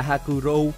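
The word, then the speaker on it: 白老: viết như thế này được đọc là Hà bro có nghĩa là ông già màu trắng dễ thấy nhất đó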